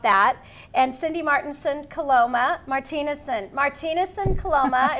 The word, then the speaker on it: Martinusen Coloma: And Cindy Martinusen Coloma, Martinusen Coloma is the correct way to pronounce it.